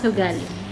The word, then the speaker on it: ugali: He means Kali means ugali. He doesn't know how to pronounce ugali.